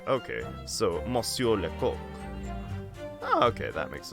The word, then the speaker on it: Lecoq: Pronounced like Coke. Okay, so Monsieur Lecoq.